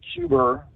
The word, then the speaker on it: Cuba: and said uh that any missiles launched from cuber is how he pronounced it any missiles launched from Cuba would be considered a